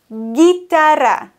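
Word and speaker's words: guitarra: das ist falsch denn die Kombination guu i und GU e sorgen immer dafür im spanischen dass man das U nicht ausspricht also la gitara lagitara genauso eben z.B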